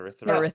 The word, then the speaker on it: Urithiru: So the Ghost Bloods again are popping up, and they're also looking for Ryu, or however you pronounce that. Urithiru or whatever. Or Urithiru. No, Urithiru.